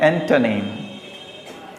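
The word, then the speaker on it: antonym: आप ANTO देखकर ऐसा तो नहीं एंटो कर रहे हैं? याद रखिए, इसे पढ़ते हैं एंटोनिम। एंटोनिम, एंटोनिम सही है।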